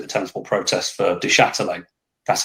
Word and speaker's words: Du Châtelet: Charlton fans did the tennis ball protest for Du Châtelet. That's how you pronounce his name, by the way.